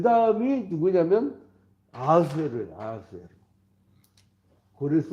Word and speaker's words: 아하수에로: 근데 이거 우리 성경에서는 아하수에로라고 나오는데 그 뭐야 아하수에로란 말은 히브리식 히브리어 발음이에요.